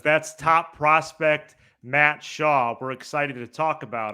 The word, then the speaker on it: Shaw: goes up to 100 does his last name uh rhyme with claw yes it does that's top prospect Matt Shaw we're excited to talk